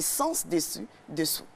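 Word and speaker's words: sens dessus dessous: Ce n'est pas sans, mais c'est sens dessus, dessous. Dans S-E-N-S. Voilà. Et non S-A-N-S.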